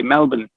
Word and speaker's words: Melbourne: or if you're australian you have to say melbourne that's just my last name is okay